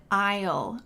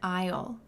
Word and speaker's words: aisle: Now, I'm going down an aisle. Notice this pronunciation. Isle. The S is silent. Go down an aisle. Or you can say it's on aisle three.